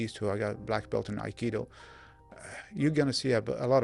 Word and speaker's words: Aikido: Aikido. Aikido.